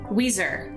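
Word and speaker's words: Weiser: the state so number 10 is weezer not the band we sir but they are known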